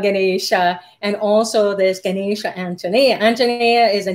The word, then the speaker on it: Anjaneya: Pillai has the last call for the installation of Golden Ganesha and Ganesha Anjaneya, or Anjaneya, as Dr. Pillai pronounces it.